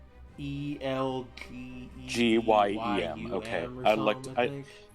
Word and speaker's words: Elgyem: It's like ELGYEM. Okay, I think. It's ELGYEM. There you go. Elgium.